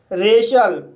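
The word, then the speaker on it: racial: रेशल, इस word में आर को रा पढ़ेंगे, ए को ए पढ़ेंगे, सी को शा पढ़ेंगे, आई ए साइलेंट रहेगा, एल को ला पढ़ेंगे। इस तरह से रेशल पढ़ेंगे और रेशल मीन्स होता है जातीय।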